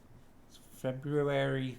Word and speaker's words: February: let people know that I'm skipping that first r every is a weird